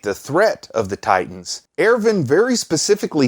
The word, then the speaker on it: Erwin: pronounce it, which is Erwin. But it does deserve a Germanic pronunciation, as somebody pointed out. And if you listen to the pronunciation in the show, it is more like Erwin.